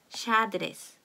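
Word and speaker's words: xadrez: 자, X가요, 어두나 어미 음절 앞에 오는 경우가 있습니다. 그럴 때는요, she라고 발음이 됩니다. 예를 들면은 이런 단어가 있어요. 이건 체스 두는 거예요. 그 바둑 같은 외국 바둑 있죠? 체스인데요. 샤드레스 이렇게 발음이 됩니다.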